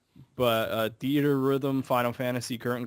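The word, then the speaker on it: Theatrhythm: one is theater Rhythm which I always Call theat Rhythm because that's how it's spelled but a theater Rhythm Final Fantasy Curtain Call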